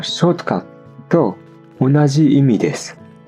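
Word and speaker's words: ショートカット: 単語は英語のショートカット同じ意味です。日本語の場合はアクセントはないけど最後のトーンが低いかな。ショートカットみたいな感じ。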